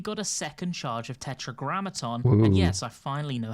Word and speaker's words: Tetragrammaton: On top of that, we got a second charge of Tetragrammaton, and yes, I finally know how to pronounce it correctly.